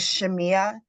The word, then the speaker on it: Shamaiah: Is it Shamaya? I'm sorry if I'm mispronouncing your name. Good evening. My name is Shamia.